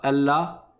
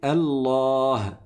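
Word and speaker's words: الله: À la fin, on dit pas Allah, Allah non, on dit Allah, Allah. Vous entendez le son qui est tout à la fin ?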